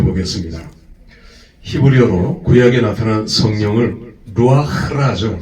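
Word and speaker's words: רוח: 흐와 크의 중간 발음이에요.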